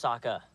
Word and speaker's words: Sokka: My name's Sokka. Rhymes with Akka and Waka Waka.